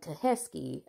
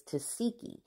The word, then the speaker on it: Tesiki: Even though it's spelled like Teheski, Chrisean, and she say that it's Tesiki.